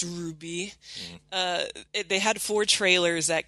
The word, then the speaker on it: RWBY: never seen anything about our waby which is pronounced Ruby they had four trailers